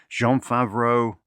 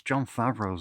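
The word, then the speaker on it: Jon Favreau: With a great cast, Christian Slater, Daniel Stern, Cameron Diaz, Jean Favreau. I always pronounce John Favreau's name like he's French, Jean Favreau, but he's not.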